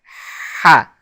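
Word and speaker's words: ح: throat by constricting the throat muscles and forcing air through the windpipe. Ha. Now the short, and we will write it with an H and a dot underneath it to distinguish it from the H, which is a H sound, in which the throat muscles don't constrict.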